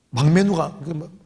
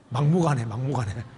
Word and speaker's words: 막무가내: 이거 완전 막매누가 뭐라고요? 막무가내 발음이 자꾸 하는데 막무가내인 거예요.